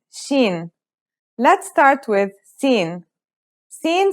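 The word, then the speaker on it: سين: Sin sounds just like the English S. It's very easy to pronounce.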